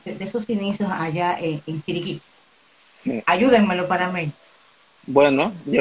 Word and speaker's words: Chiriquí: Ayúdame a pronunciarlo. Chiriquí.